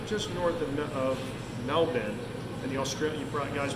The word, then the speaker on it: Melbourne: Okay, don't pronounce it Melbourne, and don't pronounce Brisbane as Brisbane. If you want to be on the in, it's Brisbane and it's Melbourne. Okay, not Melbourne. That's in Florida.